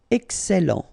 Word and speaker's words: excellent: Remember, double L and E before, it will open the E. So, excellent. excellent.